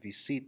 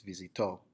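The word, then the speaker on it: visitó: sail again it's not V seat though it's visito with the emphasis on the end where the accidents my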